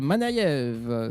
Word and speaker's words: Manayeve: Bah ça se voit avec notre invité Manève. C'est bien ça. Bonsoir. Ouais c'est ça. Tu as vu, je prononce bien.